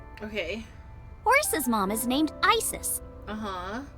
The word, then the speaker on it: Isis: Horus's mom is named Isis. Uh-huh. But in ancient Egyptian, it's pronounced closer to Isa or as H.